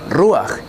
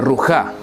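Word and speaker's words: רוח: Por eso pronunciamos ruach y no rujá.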